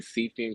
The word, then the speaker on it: Siefyan: The acronym is really Siefyan because it's Arabic. Because I'm half Arabic, Oh, you're half. but it's I prefer Siefyan, so everybody calls me Siefyan.